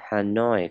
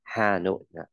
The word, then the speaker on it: Hanoi: Mình đọc là Hanoi, không đọc là Hà Nội. Hanoi, theo người Anh nhé. Hanoi, nhớ âm, nhấn vào âm noi.